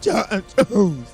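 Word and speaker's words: J'onn J'onzz: Right, but it's pronounced like John Jones.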